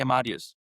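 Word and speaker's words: Amadeus: But they do also hold some legacy licenses in um the uh Amadius Basin and MacArthur Basin. Uh I hope I'm pronouncing Amadius right. Probably would say Australian says but they say Amadius.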